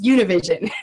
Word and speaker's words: Univision: And before doing the interview, Siobhan made sure to go over how to pronounce Univision.